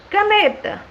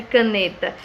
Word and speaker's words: caneta: Caneta, caneta. Alguém escreve caneta colocando acento? Não. E qual é a sílaba tônica de caneta? O né, correto?